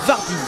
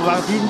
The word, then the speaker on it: Wardin: Wardin. Je dirais même Vardin, je crois. je dis pas de bêtises. Je crois que le W se dit V. Victor, donc Victor. Et en tout cas, Victor Vardine qui, comme on le